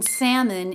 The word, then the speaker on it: salmon: that's the exchange okay l in Salmon is silent also forget that o think of it maybe as an i Sam in Salmon oh